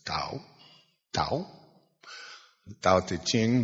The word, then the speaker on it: Tao: Now the Tao, the Ching, T-A-O, it's pronounced D, but it's Tao.